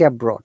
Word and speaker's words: abroad: You must pronounce the D sound clearly and correctly.